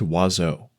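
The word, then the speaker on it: oiseaux: mocked other than french birds is wazo in French no letter is pronounced the way it should and there are seven of them it's pronounced wazzo and yes I will die mad about it walzo hits every vowel in the French alphabet and manages to only be pronounced with two goddamn syllables dearest creature in creation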